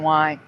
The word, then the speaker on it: JCPenney: No, I mean, like, if I had seen it with an E, I would have pronounced it Penne. But for me, it was just it was Penny.